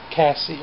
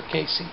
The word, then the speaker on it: Kassie: And it's just for Kassie or Casey. It's K-A-S-S-I-E. I guess it would be Kassie or Casey, depends on how you want to pronounce it, or where you're from, or something like that.